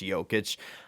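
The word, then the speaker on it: Jokić: I think it's pronounced Jokic.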